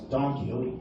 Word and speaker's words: Don Quixote: But in America, or in Canada, we actually read it as Don Quixote. Don Quixote. That's right. Oh, that's interesting. Yeah, it sounds funny, but that's the correct way to say it.